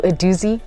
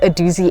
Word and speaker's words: Adoozy: you'll need to do is set up your adoi Docker place the charger into the wall socket